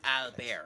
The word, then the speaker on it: Albert: Like, it probably is a thing in French, but why would you end up putting really a T at the end of the word if you're not going to pronounce the T? Like, why is it Albert?